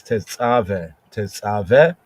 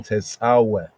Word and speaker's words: Tetzaveh: Here, Tetzaveh, often pronounced in modern Hebrew as Tetzaveh, ancient pointing Tetzaveh.